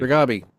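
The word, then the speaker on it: Reghabi: But that might be because um Oh god, I'm going to get her name wrong again. Regabi. Regabi. Say it for me correctly. Regabi.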